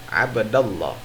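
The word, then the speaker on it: عبد الله: dibacanya harus abda, ya, karena terdiri dari dua suku kata, abda dan Allah.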